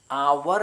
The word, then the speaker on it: hour: HOUR ഹോർന്ന് വായിക്കില്ല, അവർ എന്നാണ് വായിക്കേണ്ടത്. എച്ച് ഇവിടെ സൈലൻ്റ് ആയിരിക്കും.